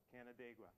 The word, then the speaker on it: Canandaigua: Red Jacket signed the treaty of, I don't know the pronunciation properly for this, Canandaigua, if anyone could pronounce that for me. It's a nearby community. Canandaigua, thank you very much.